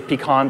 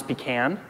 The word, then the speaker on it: pecan: how it sounds phonetically so you can say pecan versus pecan right or pecans in my case you know we